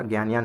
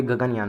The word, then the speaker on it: गगनयान: Sorry, मैंने यहाँ पे प्रोनाउंस गलत कर दिया था, ज्ञानयान शायद मैंने बोला यहाँ पे। ओके, तो ये गगनयान होगा।